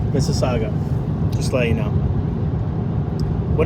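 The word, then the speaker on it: Mississauga: oh it's it's pronounced Miss is Saga Miss Saga just let you know what did I say muga I was pronouncing the U why don't they just drop the U so we won't be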